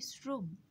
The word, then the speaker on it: শ্রম: তাহলে তালব্যস থাকলেও আমরা যেহেতু উচ্চারণ করছি শ্রম, সেহেতু আমরা লেখার সময় দন্ত স লিখলাম, র ফলা ওকার দিলাম এবং ম দিয়ে হসন্ত দিলাম।